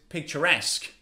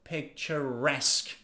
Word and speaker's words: picturesque: vibrant next adjective is picturesque picturesque again pay attention stress is on the last syllable picturesque picturesque but what does it